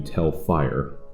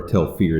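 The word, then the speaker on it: Tel Fyr: trying to get to tell fire or tell fear depending on how you want to pronounce it and this the guy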